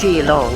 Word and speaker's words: Keelung: arrived at last in kilong and I have found that it is indeed pronounced G long even though it's spelled with a K oh romanization what do